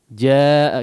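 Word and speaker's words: جَاءَ: Jaa kita jumpai di sini ada huruf mad yang setelahnya adalah huruf hamzah. Ya. Berada dalam satu kata.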